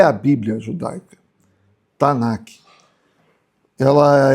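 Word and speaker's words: תנ״ך: Então essa é a Tanac, assim que se pronuncia no hebraico. Então se você falar pro para um judeu ortodoxo, eh você se referir a Tanaque, é para nós o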